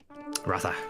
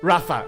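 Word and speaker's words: Ratha: the the Chariots um Raa rraa exactly although apparently as well for another one of like true pronunciations apparently the a is silent in rraa you should say wrath but I that just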